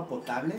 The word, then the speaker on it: potable: Agua potable? How do you say it? Agua potable. Portable. Anyway, no, not portable. Potable, not portable.